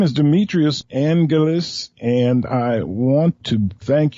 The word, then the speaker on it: Demetrios Angelis: You have a Greek name, Demetrios Angelis, I think it is the way it's pronounced. Right.